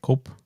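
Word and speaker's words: Koepp: that David co co I say his name k o e p p cop David cop he's the original screenwriter for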